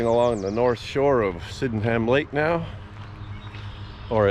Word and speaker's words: Sydenham: Sydenham Lake now, or as some of the locals say, Sydenham. Sydenham. I always say Sydenham like it's spelled, but apparently the locals say Sydenham. Sydenham. Just run it all together fast.